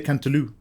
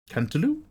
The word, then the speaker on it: cantaloupe: The French don't pronounce But they say Cantaloo. Cantaloo.